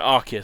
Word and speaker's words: Arceus: it I was there Arceus sorry I've got pronounce it the official way Aki's makes more sense anyway but ok whom